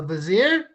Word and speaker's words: vizier: A vizier? It rhymes with brazier, ladies and gentlemen. It rhymes with brazier, but it is far less shapely.